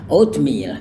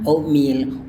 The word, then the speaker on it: oatmeal: Bunyi T-nya tidak dilafalkan juga nggak menjadi masalah ya. Jadi bisa bilang oatmeal or oatmeal, no problem.